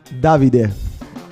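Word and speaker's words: Davide: Para começar, a pronúncia correta do nome David.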